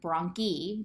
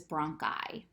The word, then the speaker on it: bronchi: you're pronouncing the e and when i appears at the end of the word it's pronounced i so this isn't bronchi this is bronchi okay one more thing